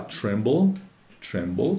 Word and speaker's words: tremble: E tá lá, tremble, que é tremer, vibrar, e atenção à pronúncia do som do L final. Tremble não tem L final, mas tem um som de L final que precisa ser pronunciado em inglês.